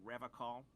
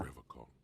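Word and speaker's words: Revachol: I've been tempted on occasion, but someone has to stay strong for Revacol. I hate this man so much. He pronounces Yeah. Revacol with a hard K, unlike other people. You said Revacol?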